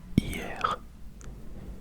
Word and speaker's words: hier: And then while we're at it, we can do yesterday, which is hier. Hier. Hier. Hier. Which is spelled H-E or H-I-E-R.